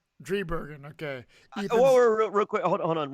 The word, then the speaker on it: Driebergen: Driebergen. Driebergen.